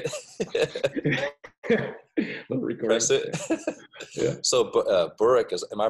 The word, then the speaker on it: Burik: So Burik, am I pronouncing it correctly? Burik? Burik. Burik.